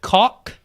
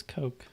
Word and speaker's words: Koch: something to bed here how do you pronounce Koch okay och a lot of people are like is it caulk is it coke is a cosh I said god it says coke and I don't think